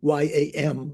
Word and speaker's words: yam: element and the M like yam y a m or we would say in American we'd say yam right like yams at Thanksgiving yam uh the the